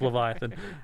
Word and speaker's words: Livyatan: i'm pronouncing levitan right we looked it up and i still don't even know it could be leviathan leviathan i don't know leviton i'm leviathan it's just straight up leviathan i know but they